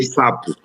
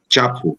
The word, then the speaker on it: Chapo: Eu sempre pronunciei sapo, portanto por erro, sempre pronunciei sapo. Inclusive fui corrigido várias vezes até adotar o termo e tchapo, né?